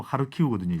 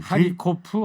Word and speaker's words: 하르키우: 그러니까 방금 전에 이제 정상근 기자가 이야기한 하르키우라는 곳이 이제 실제 우크라이나의 이 발음으로 하르키우거든요. 하리코프, 하리키우 같은 네.